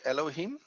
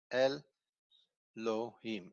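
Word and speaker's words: אֱלֹהִים: little dots over here you see el lo him and you see exactly the same as i did the vowel mark the syllable markers are here here and here so there are three syllables elohim here we have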